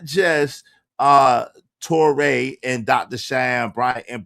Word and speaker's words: Torre: Hey, so today's show today's show is the Tori versus the Toré. I'm sorry. I'm sorry. I mispronounced the Tore versus Dr.